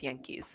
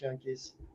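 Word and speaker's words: yanqui: you read the subtitles it's spelled y-a-n-q-i or q-u-is that's the Spanish spelling is the Spanish spelling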